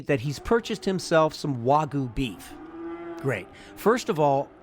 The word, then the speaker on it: wagyu: brags to me that he's purchased himself some wagyu beef great first of all and neither of us that being you the listener and me should be surprised by this he mispronounced it it's called wagyu beef wagyu w-a-g-y-u wagyu beef is a breed